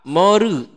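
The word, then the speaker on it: モール: Jadi kata mall itu diucapkan oleh orang Jepang menjadi moru. Karena tidak ada L. Ya. Jadi mengucapkan mall, dia mengucapkan moru.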